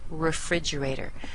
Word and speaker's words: refrigerator: at the other syllables the first syllable is weak that means we're going to say uh instead of the E